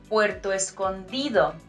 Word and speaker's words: Puerto Escondido: g sound Puerto Vallarta Puerto Escondido and here remember that letter D sounds like in dentist so it's like a bit hard Puerto Escondido and Puerto